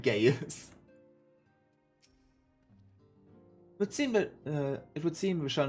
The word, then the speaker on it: Gaius: Gaius. I spoke it as Gaius. I pronounce Gaius' name in English way too much on the I. So it sounds like Gaius.